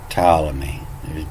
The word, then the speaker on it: Ptolemy: but it's just pronounced ptolemy there's no p in it that's where it come